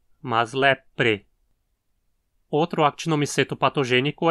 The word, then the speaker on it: leprae: Lembre-se de pronunciar o AE como E, então lepre. Não diga leprae e nem lepri, mas lepre.